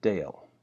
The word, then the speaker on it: Dale: pronouncing my name and it's a good example of the power of the silent E so Dale the AL II where the e remains silent and the a takes the same sound as it